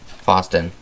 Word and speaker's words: Fositan: this is made by foe stan fosten fosten that's how you say it should be getting